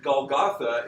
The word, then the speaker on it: Golgotha: So that's Gilgal in the Bible, which is the Hebrew pronunciation basically of Gilgal. And then Golgotha is Gilgulta, the feminine Aramaic, feminine ending.